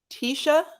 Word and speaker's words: Tisha: that's okay okay um is your name pronounced Tisha yeah just like the one on the show that's like the one